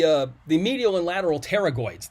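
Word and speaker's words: pterygoids: the medial and lateral terragoids the p is silent it's like pterodactyl terragoids u they will help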